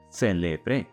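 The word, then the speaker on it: celebré: But if you stress the final syllable, celebre, then you're saying, I celebrated in the past.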